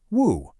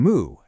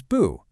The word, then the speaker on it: 無: Back home in Mandarin Chinese, it's pronounced woo.